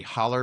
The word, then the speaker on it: hollow: They So spell it hollow, but we say holler because that's just who we are.